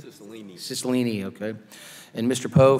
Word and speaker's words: Cicilline: Did I pronounce that right? Cicilline.